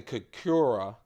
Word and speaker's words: Khukuri: Now look, I'm going to mispronounce this, so I'll spell it too. I call it the Khukuri, K-H-U-K-U-R-I.